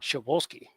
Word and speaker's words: Shavolsky: It's pronounced Shavolsky. Raisky would remember.